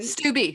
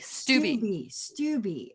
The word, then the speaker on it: Stubbe: Stubbe, right? Stubbe. Stubbe. Okay.